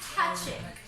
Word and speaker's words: Hachiko: Okay, there you They do not sound the O. So it's hachik.